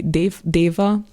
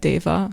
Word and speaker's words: Deva: But actually, the first one it will be a Hungarian artist, so you will no it's called actually Deva. It's pronounced like that, Deva.